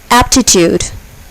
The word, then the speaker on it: Aptitude: Aptitude. Aptitude. Here, the first syllable is accented.